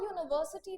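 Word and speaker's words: university: अ यूनिवर्सिटी में हमारा जो वर्ड है वह यू से जरूर स्टार्ट हो रहा है। यू से हमारा वर्ड स्टार्ट जरूर हो रहा है बट इसमें भी साउंड किसका जा रहा है?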